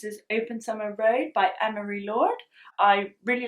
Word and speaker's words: Emery: reading it completely wrong I've been pronouncing it early it's Emery the ends after E I don't know why in my head I'm doubled up the letters but I see miss Emory and